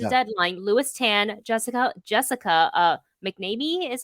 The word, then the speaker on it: McNamee: According to the Deadline, Louis Tan, Jessica McNamee is how you say her last name. Oh, McNamee, yeah.